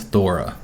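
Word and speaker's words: Þóra: Apparently that symbol there is also the TH sound, so the pronunciation is slightly different, but her name is Thora.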